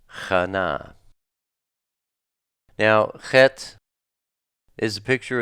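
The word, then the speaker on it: חנה: It is, it's spelled chet, nun, he, and pronounced chana.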